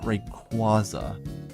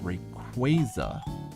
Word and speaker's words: Rayquaza: When I was a kid, I did pronounce it Rayquaza. Now that I am older, I pronounce it Rayquaza because it's supposed to be based off of Quazar stars. or not stars but quaazars which are dead stars question mark I forget.